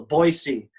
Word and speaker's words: Boise: It's pronounced with an S, not a Z. So Boise.